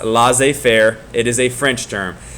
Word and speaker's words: laissez-faire: this is a French term, and it is pronounced laissez faire. So it's not laissez faire or anything like that. It's pronounced laissez faire.